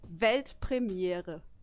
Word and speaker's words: Weltpremiere: It's actually Weltpremiere.